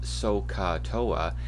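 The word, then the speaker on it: SOHCAHTOA: Now, what's written at the bottom, and this is pronounced SOCATOA, it's an acronym for remembering which ratio each of the trig ratios are, which ratio of sides.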